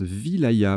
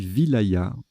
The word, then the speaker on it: wilaya: Wilaya avec un ou deux L. Ah, ça se prononce Vilaya. Ben, vous voyez, je le découvre. Petite découverte. Donc, on dit Vilaya.